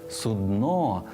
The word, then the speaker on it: судно: для лежачих хворих і корабель все одно судно з наголосом на о слова судно в українській мові немає і ніколи не було і Ось вам фраза